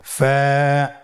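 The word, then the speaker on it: ف: হরফ আমরা দেখতে পাচ্ছি আপনারা আমার সাথে বলুন ফা কফ কাফ লাম মিম নুন ওয়া হামজা ইয়া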